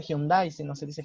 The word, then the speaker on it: Hyundai: Yo les comentaba que no se dice taekwondo, sino se dice taekwondo, o por ejemplo no se dice Hyundai, sino se dice Hyundai, por ejemplo.